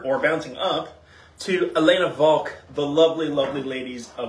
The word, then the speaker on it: Walch: bouncing up to Elena Volk the lovely lovely ladies of Elena bulk which yes her name is Elena and it is pronounced Volk like a v um the family is historically Austrian so you know German